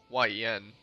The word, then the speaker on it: Nguyen: understand yeah that's true like win right Nguyen but it's pronounced win you almost destroyed Grand